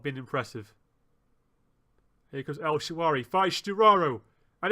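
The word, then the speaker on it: El Shaarawy: I can't say his name. It's Shawari. El Shawari.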